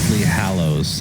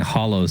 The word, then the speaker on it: hallows: in a supply hallows I think I've been saying hollows this whole time I feel like that's a bishop pronounciation hollows it's spelled differently I know it's two